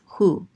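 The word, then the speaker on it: הוא: Anyways, this says u, and this aleph is silent. This is hu.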